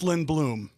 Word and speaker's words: Lindblom: today to him by my good friend lindblum from Carl's gray so how do you pronounce that last name it's lindbloom Liam Beluga I've only known him for 10